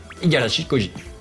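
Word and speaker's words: 五十嵐孝司: vidéo, monsieur Iga, alias Igarashi Koji. Igarashi Koji. Voilà, pour bien prononcer.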